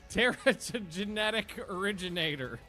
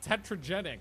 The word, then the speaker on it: Teratogenetic Originator: Teratogenetic originator. Nailed it. Well, it took 6 times. I always call it tetragenic, but that's not it.